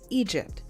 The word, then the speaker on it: EDJP: a new Duo group edjp pronounced as Egypt while attending Martin Luther